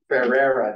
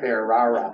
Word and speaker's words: Ferrera: Ferrera, not Ferrara.